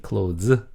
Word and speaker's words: close: 여기 close, z 발음 조심하고.